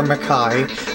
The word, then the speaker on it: Mecheye: change the name to this this one's called meai m a c h e y e or mackai mine is spelled m e k k a i in